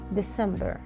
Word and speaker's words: December: لاحظوا أنه حرف الـ E بعد حرف الـ D تقريبا ما لفظته، أوكي؟ قلت December December، يعني ما بقول December، أوكي؟ هيدي الإي مخففة بتجي جداً جداً، اعتبر حالك كأنه عم تنتقل من دي إلى سي مباشرة، أوكي؟